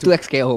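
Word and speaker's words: 2XKO: No, it's 2X KO, but everybody calls it Tukco like Tuko Salamanca.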